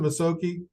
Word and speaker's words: Masoki: Is it, you pronounce it Masoki? Correct.